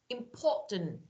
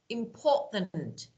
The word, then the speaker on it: important: T it's it's like a Breck here M important important can you hear me important now compare important